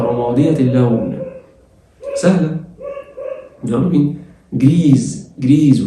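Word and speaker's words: grise: جريز والاس من حرفين متحركين اتنطقت زد.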